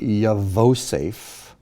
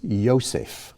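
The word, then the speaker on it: יוסף: okay the first one this is not ya vosafe it's yosef or joseph here the v is not pronounced you just use the o above so the the vent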